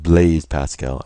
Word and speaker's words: Blaise Pascal: And long ago, a man by the name of, I believe it's pronounced Blaise Pascal.